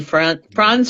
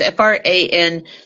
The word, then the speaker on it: Franze: to go look up Anthony Franz or Franzi. I'm not quite sure how you say it. It's Franze, his real name.